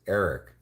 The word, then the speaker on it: Eric: my name's not Jeff it's Eric rhymes with Derek what's my favorite bird